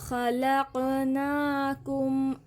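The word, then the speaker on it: خلقناكم: इसको क़ाफ पढ़ेंगे और इसको काफ, इसको ध्यान से प्रोनाउंस करना है। व खलक़नाकुम अज़वाजा वजअलना नौमकुम सुबाता वजअलना लैला लिबासा वजअलना नहार मआशा वबनैना फ़ौक़कुम सबअन शिदादा।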